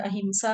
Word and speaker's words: अहिंसा: जिसकी में से अहिंसा इसको असल में लोग गलत प्रोनाउंस करते हैं अहिंसा बोल देते हैं असल वर्ड अहिंसा है सेकंड है सत्या थर्ड